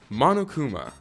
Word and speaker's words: Monokuma: zelda wraps sackboy i like him tracer jibanyan monokuma that's how you pronounce it shovel knight it'd be nice to